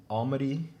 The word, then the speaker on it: Almaty: You're an international student from Almaty, and that's in Kazakhstan. Did I Yeah.